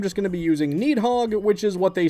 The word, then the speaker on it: Nidhoggr: Some sources pronounce the R at the end of it while others don't. Apparently, the proper Scandinavian pronunciation is actually closer to Nathog.